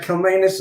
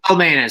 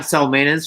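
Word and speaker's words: Calmanis: It's Kalmanis, soft C there. Sorry. Greetings from Canada. I don't know what gave it away, but... yeah, I'm Salmanis from Calgary, Alberta, Canada.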